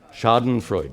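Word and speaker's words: Schadenfreude: used a German expression sha Shaden Freud sh Shaden Freud yes sh Freud thank you I didn't get the pronunciation right which means to be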